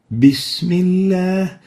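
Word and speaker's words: بسم الله: is whispering the bear so it sounds like an English P example this mean this middle T this Miller this is wrong it should be like this bismillah so the proper way is to pronounce the Arabic bear like the English B and not the P the second common mistake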